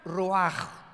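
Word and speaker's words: רוח: como suena con R de Raúl, ch al final, Rash y se pronuncia Roaj.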